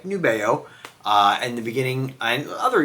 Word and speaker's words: Nubeo: Folks, when I do a video, unless the company specifically reaches out, like Nubeo, in the beginning, and other YouTubers too, will call the brand Nubio. It's actually Nubeo.